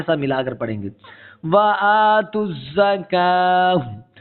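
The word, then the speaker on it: وَآتُوا الزَّكَاةَ: अब इस वाव को भी नहीं पढ़ेंगे, ये वाव भी साइलेंट है, ठीक है। और काफ को क्या करेंगे कि खींच कर इसका यहाँ पर स्टॉप करेंगे और यहाँ इस ता को साकिन कर देंगे।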